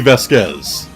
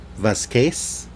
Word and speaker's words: Vasquez: It's because her last name is Spanish, so it would actually be pronounced Vasquez. What? Vasquez.